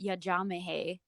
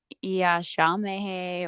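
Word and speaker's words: यजामहे: Om Trayambakam Yajamahe, and they won't know that Yajamahe is important to say versus Yashamehe or Yajam or like whatever it is. You have to say each syllable in a very intentional way because you're activating the petals of your lotuses.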